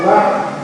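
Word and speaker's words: بعض: Kalau kita wakaf dua sukun, dua-duanya dibaca ya. Ya. Jadi sukunnya ain dibaca, sukunnya dhad juga dibaca.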